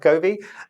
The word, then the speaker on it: Govee: This is a little device from, I think it's called Govee. It's pronounced Govee.